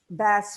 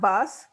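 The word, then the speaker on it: Vasse: for your help so bass Felix and that's how Virginia reminded me to pronounce it not boss um is Margaret Rivers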